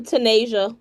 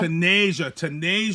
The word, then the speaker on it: Tanaijsa: I'm going to say Tanaijsa. Is that how you say it? Tanaijsa? Tanaijsa. Yeah. Tanaijsa yeah.